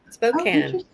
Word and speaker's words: Spokane: Spokane.